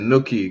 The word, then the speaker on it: Nuki: Nuki. Oh, like cookie. Got it. Got it. Nookie.